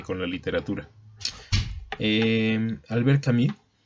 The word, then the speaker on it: Camus: quien no lo identifique por Camus, que es la pronunciación muy francesa, fue un tipo que murió joven en un accidente automovilístico.